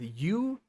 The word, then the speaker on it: Yew: end is built with you that are s which has to be like super specific with my pronunciation because there's view too so u y e w is a front-end framework